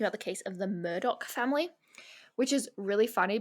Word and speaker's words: Murdaugh: spelled m-u-r-d-a-u-g-h and so if you were to just see that like really quickly you might think it says Moda yeah but it's pronounced Murdock and the more you